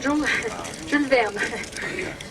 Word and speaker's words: Jules Verne: Verne, you pronounce Jules Verne? Jules Verne, in French.